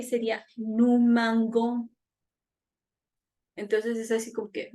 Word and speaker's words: mangeons: Entonces, es por eso que dejamos solamente en el pronombre nous, vamos a dejar puesta esa E. ¿Para qué? Para que siga pronunciándose de la misma manera, ¿sí?